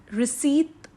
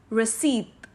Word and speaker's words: receipt: So basically इस word को हम receipt pronounce करेंगे but not receipt. Here P is silent. P की sound इधर silent है. So इस word को हम कैसे pronounce करेंगे? As receipt.